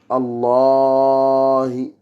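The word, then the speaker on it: اللهِ: Et c'est une voyelle longue qui n'est pas en français. C'est-à-dire, il y a deux A. On doit prolonger. Allahi. Et en même temps, pour vous donner un plus, c'est pareil pour tout type de Allah que ce soit même Allahumma, il y aura une prolongation après les deux lemmes.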